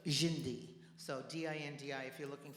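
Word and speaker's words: Dindi: And it's spelled D-I-N-D-I because D in Brazilian is J, Jindi.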